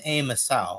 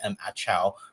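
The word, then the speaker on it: Em Ação: So, I believe the commercials pronounce this as Commandos A Misau, I believe is how it is, even though I've been calling it Commandos M AOA this entire time, just because, you know, pronunciations be damned.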